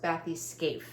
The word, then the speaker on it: Bathyca: She left a comment saying that it's pronounced, she looked it up and it's pronounced Bathyca. So this is Bathyca by Heaven and Earth Designs.